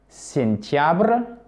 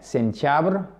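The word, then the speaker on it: сентябрь: La série se prononce quasiment de la même façon. Sentiabr. Octiabr. Ok? Sentiabr.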